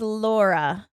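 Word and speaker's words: Lura: ladies my name is Laura so it is spelled l u r a okay but pronounced like Laura with a name feel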